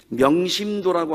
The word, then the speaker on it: 명심도: 그것이 명심도라고 하는 그런 책입니다. 도신명이라고 읽으면 안 돼요.